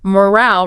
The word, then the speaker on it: morale: Morale refers to the overall confidence, enthusiasm, spirit of a group. Like team morale. Exactly. Team morale, employee morale. The pronunciation has a longer a sound.